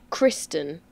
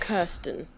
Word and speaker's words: Kristen: It's Kristen, not Kirsten. Kristen.